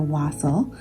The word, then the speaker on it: wassail: Day 6 is wassail, or as it's more commonly pronounced in America, wassail.